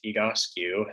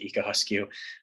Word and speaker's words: Egoscue: thing we should go over real quick is higosku um that's how you pronounce it ika huskyu we get that question a lot and it